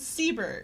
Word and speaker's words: Seber: do you know uh it is seber seber okay that's what I was